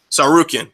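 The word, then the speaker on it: Tsarukyan: random teenager like Arman Sarkar, how do you pronounce this? Sarukian.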